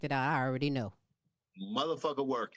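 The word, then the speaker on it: Muthaphuckawerk: Motherfucker Work. It's spelled unlike it sounds.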